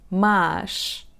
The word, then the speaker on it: más: The second word is with the open /a/ sound: "más /maʃ/" So it's like a slightly longer /a/ sound.